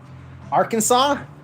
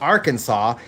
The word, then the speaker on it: Arkansas: And that's how you get things like a state called Kansas and a state called Arkansas, even though Arkansas is spelled R Kansas.